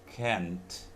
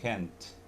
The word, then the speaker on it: can't: Kalau tidak bisa tuh can't, ada T-nya ya. Jadi can't, itu T-nya bunyi ya, can't. Tapi kalau bisa nggak usah pakai T, I can.